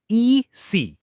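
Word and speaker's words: ici: ई सी।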